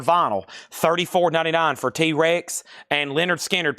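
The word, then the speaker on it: Lynyrd Skynyrd: $34.99 for T-Rex and Leonard Skard. Pronounced Leonard Skard.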